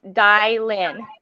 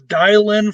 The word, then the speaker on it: Dilynn: camera oh hey the way you pronounce my name it's dylan really wow see i'm learning something new already so it's dialynn fun harvey yes okay